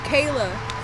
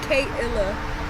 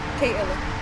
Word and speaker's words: Kay Illah: A lot of people probably like mispronounce it, and they're like, oh, Kayla, and I'm like, no, it's not Kayla, it's Kay Illah. So yeah, Kay Illah.